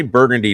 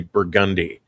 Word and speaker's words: Burgundy: Well, they say they don't say Burgundy down here anyway. They say Burgundi. So, we're just, you know, you put emphasis on the wrong sal, you know, that's what it's all about, right?